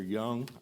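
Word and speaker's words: Jung: Gentlemen, my name is Young. I spell it J-U-N-G.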